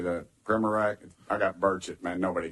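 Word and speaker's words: Primorac: Primorak, is that correct? How do you say that? Primorak? I got Burchett, man. Nobody gets mine right, so don't worry about it. What is it? Primorak?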